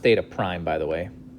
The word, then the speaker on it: theta prime: That notation is pronounced theta prime, by the way.